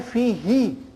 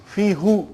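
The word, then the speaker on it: فيه: But why fihi and not fihu? No, try. When you go home today, go home and stay in front of the mirror and say fihu and then say fihi. See, look at your face. It's easier to say fihi instead of fihu.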